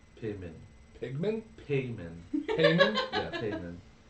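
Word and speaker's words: Paemin: Pigman payman payman yeah payman like Raymond with a p uh yeah sure it's it's spelled p a e m i n but pronunciation yeah way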